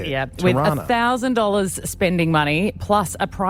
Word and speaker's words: Tirana: Yeah, Tirana.